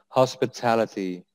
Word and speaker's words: hospitality: So the stress is on the third syllable. The penekanannya is on the third syllable. Hospitality.